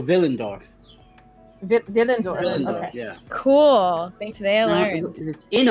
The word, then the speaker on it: Willendorf: where it is and is it willendorf or is it spelled differently it's spelled with a w so villendorf villains yeah cool thanks